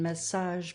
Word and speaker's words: massage: chandler and chapel and the soft g in massage mirage prestige while the oldest sound